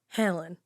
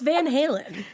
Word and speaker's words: Van Halen: baby dog and they named the baby dog Helen Helen Halen Van Halen oh my God I